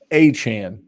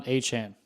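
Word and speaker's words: Achane: got to be up stock up and it's pronounced aan Devon hhan Kevin get it right you're the producer you should have told me Devon hhan Adam shf tweeted it that's the thing even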